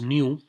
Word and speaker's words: Nu: But like I was telling you that that it is pronounced as new, NU is pronounced as new.